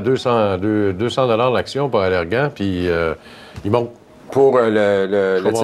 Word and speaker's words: Allergan: Valeant est beaucoup là, dans l'actualité par les temps qu'il faut parce qu'il tente depuis longtemps d'acheter de façon hostile Allergan, on prononce Allergan, voilà.